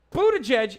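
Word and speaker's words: Buttigieg: cool very tight like buddha judge is how you say his last name it's also a an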